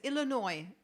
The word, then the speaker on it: Illinois: You don't pronounce the S, I guess. Illinois.